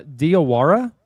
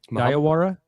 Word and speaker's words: Diallo: Uh Diallo? Is that how you say his name? Diallo? Yeah. I told Carrie tonight that his last name sounds like if you like have a lisp and you're saying diarrhea.